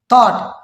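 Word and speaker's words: thought: अच्छा अब इसको देखें थॉट, ओ जो एक वावल है, यू एक वावल है, ठीक है, उसके बाद क्या आया है, जी एच आया है तो हमने क्या कर दिया, साइलेंट कर दिया।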